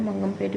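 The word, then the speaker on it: Mangampet: मंगमपेट, I hope हमने clear pronunciation इसका किया हो। मंगमपेट बोलते हैं।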